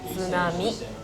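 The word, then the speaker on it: 津波: You say tsunami.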